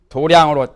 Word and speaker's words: 도량: 수행하는 데는 도량에 들어간다 도량이란 말은 도장이라고도 가는데 불교에서는 양이라고만 도량으로 발음하지요 소장 도장에 들어간다는 말은